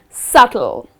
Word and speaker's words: subtle: is subtle again here the letter b which comes in the middle of the word well you need to skip pronouncing that letter and the correct pronunciation of this word is subtle okay she has a